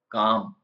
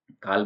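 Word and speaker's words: calm: sound नहीं आता है काम शांत काल में नहीं बोलेंगे हाफ आधा हाल्फ नहीं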